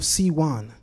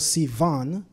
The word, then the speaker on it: Sivan: the sixth of C1 sometimes called Sivan based on the ashkenazic pronunciation of the sixth letter of the Hebrew alphabet but we're going to